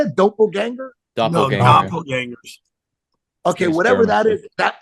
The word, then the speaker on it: doppelganger: find people like what do they call like doppelanger or something yeah okay I love that how do you say it doppelganger okay whatever that is that that's basically someone